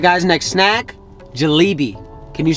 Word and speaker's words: jalebi: All right, guys, next snack, jalebi.